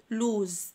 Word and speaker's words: lose: يخسر او يفقد lose، حرف الاس هنا بينطق زد.